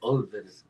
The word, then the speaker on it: Ulver: Yeah, it's ULVER. It's like Over. It's like Norwegian. It's Norwegian. For a wolf. I need to check them out. Over.